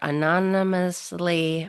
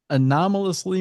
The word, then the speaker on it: anomalously: Anonymously massive. Yeah, there you go. See, you got it. Syllables. Anomalously massive.